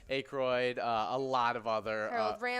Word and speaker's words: Aykroyd: Aykroyd.